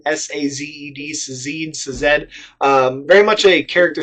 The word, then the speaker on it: Sazed: And it's also very much a character study about Vin and Ellen, and I don't know how to pronounce his name, Sazed, S-A-Z-E-D, Sazed.